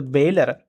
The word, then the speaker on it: bailor: So in that way remember pronunciation bailor owner. So very simple the person who delivering the goods is called as the bailor and the person who uh to whom that